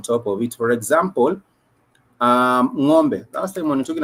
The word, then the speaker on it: ng'ombe: So you pronounce it with that apostrophe. It makes it ngo.